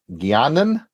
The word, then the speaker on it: Guiana: Guianan? Am I pronouncing? It's spelled differently, so I imagine it's slightly. It's pronounced the same, British Guiana.